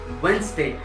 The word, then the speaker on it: Wednesday: I know इसकी spelling WEDNESDAY है, बट you have to से वेंसडे, WENZ, वेंसडे, DA.